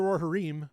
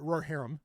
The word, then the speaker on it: Rohirrim: this is nowhere near War of the roor herim or RoR heram sorry I'm pretty sure that's how that's pronounced uh not how it's spelled but how it's pronounced uh you know like